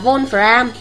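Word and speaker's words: vonfram: án đúng nhá volfram volfram ký hiệu là chữ w đọc là volfram nhá volfram là kim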